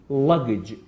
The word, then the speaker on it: luggage: تاقیکردنەوەی بەکارهێنەوەریە ڵ گ The first two letters G that we have can be pronounced like J, G, and the last one can be pronounced like J. Luggage.